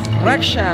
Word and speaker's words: Raksha: que te digan cómo cómo cómo cómo se pronuncia tu nombre raka significa proteger en español Oh Okay o en inglés raksha Okay pues amigos el nombre de mi amiga